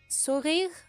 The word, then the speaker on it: sourire: Sourire, I think. Because they don't pronounce the E at the end, so...